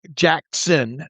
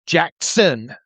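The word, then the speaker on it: Jaxon: Jackson, not Jackson. There is no S in Jackson Smith-Njigba.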